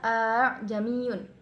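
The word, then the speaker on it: أأعجمي: A'jamiyun dibaca a'jamiyun. Ini termasuk bacaan tasil. Tasil yaitu menyamarkan hamzah yang kedua dan membaca secara jelas hamzah yang pertama.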